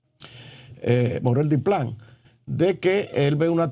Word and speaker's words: Morel Diplán: Y en ese tenor es que se pronuncia el monseñor Morel Diplin. Eh, Morel Diplán, de que él ve una tendencia eh de